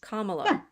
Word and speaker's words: Kamala: say her name Kamala Camala yes Kamala yeaha Kamala so in names the the emphasis tends to be on the last syll right it means flower so our you know